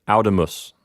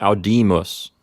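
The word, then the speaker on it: audīmus: left we would get out of us okay but it's not out of us it's out demas when the P note has a long vowel it's going to give that syllable the accident same thing without detests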